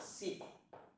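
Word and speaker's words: 信: Cái này bạn đọc là xịn.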